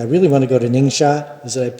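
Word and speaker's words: Ningxia: I really want to go to Ningshot. Is it I pronounced that correctly?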